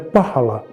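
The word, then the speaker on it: phala: kita gunakan adalah pahala pahala itu jika ditulis PH a l a kita membacanya pahala tapi orang-orang yang berbahasa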